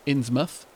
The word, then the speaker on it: Innsmouth: Only you wouldn't pronounce it mouth. Like, it might be spelled Innsmouth, but it would be pronounced Innsmouth.